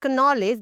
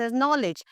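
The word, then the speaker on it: knowledge: When you talk about this word, we will not से इट एज़ कनॉलेज, बट we will say this नॉलेज।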